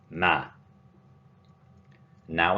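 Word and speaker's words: مَن: Man, corresponding to who or whom, and note that there is a fatha on man.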